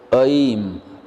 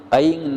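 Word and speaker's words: ऐं: में एक बार सुनने ओम अयेम ऑयल नहीं बोलना है और इनका नाम है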